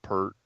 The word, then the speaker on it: Peart: guy that said he said Neil Peart biggest pronounced peered but okay I don't